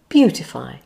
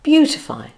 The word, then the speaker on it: beautify: Say beautify. It has 3 syllables. First stress on the first syllable, beautify.